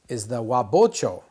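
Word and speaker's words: 和包丁: Okay, the most common blade that I make in my shop is the wabocho. Wabocho. Bo comes from ho with a slight modification to it.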